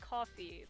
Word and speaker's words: Ko-fi: pronounce it they the the creators of it say it's pronounced coffee but you know it doesn't really look like that when i was grabbing